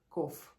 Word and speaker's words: cough: прочитать Но нет а это слово произносится как коф вот у вас сегодня